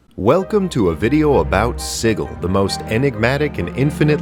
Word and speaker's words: Sigil: every couple of hours yes I know it's spelled like sigil but the place is called sigle and I hate it